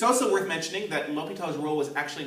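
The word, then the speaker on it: L'Hôpital: word hospital in it although the s is silent so it's actually l'hopital not hospital or the hospital this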